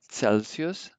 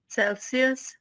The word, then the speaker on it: Celsius: this a c um it sounds like a ts like in hats celsius cesar celsius cesar okay um c